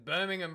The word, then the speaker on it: Birmingham: Why did the Americans say it weirdly? It's Birmingham, bruh.